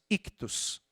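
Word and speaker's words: ἰχθύς: Peixe em grego é uma palavrinha que nós pronunciamos ictus.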